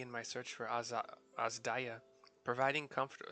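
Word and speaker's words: Adzaja: AA Azia providing comfort so it's it's spelled a z Delta a j a so every once in a while have to remember that's an i because it was pronounced that way from the voice actors uh providing comfortable quarters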